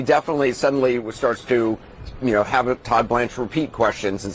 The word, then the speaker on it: Todd Blanche: And that's exactly what Todd Blanche, I had to make sure I said his name right because I heard him say his name earlier, did to Cohen.